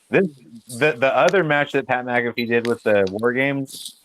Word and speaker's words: McAfee: pac pat how do you say his name pat mccaffey mcafee pat mcafee versus adam cole at nxt takeover just because